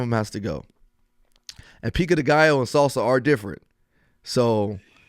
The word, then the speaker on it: pico de gallo: Pico de gallo, guacamole, queso, or salsa. One of them has to go. And pico de gallo and salsa are different.